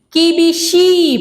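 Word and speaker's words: 厳しい: Kakoi, karena ada double konsonan dan double vokal, dibacanya tekan dan akhirnya dibaca panjang. Kakoi, sama-sama? Artinya keren. Yang ketiga ada apa? Kibishi, panjang.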